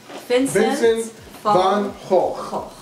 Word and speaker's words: Vincent van Gogh: Vincent van Gogh.